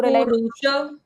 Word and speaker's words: पुरुष: उसका तो मेरे को पुरुष आप बोलो पुरुष पुरुष पुरुष श का उच्चारण पुरुष मव्ययंम मव्ययंम पुरुष